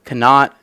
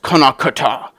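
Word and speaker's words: Connacht: get on to me they say no it's pronounced konak and I'm like I'm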